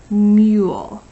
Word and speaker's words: mule: Don't forget, superhero silent E at the end of your word makes you say its long name U.